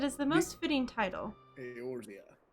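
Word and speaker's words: Eorzea: the most fitting title aortia yorzia there we go yours yeah i think i think you're supposed to pronounce the e like an a aorzia yeah probably yeah that's uh do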